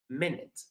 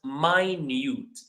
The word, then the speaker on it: minute: This word is pronounced in two different ways depending on what it means. If it means time that's minute. If it means small that that's pronounced minute.